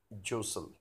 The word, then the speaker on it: jostle: railway platform crowds Joseph don't pronounce tea jostle Joseph Joseph means to move